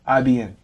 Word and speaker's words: Ibn: IBN. IBN. Simple. But there's no I in between the B and the N. No, it's just bin. Ibn.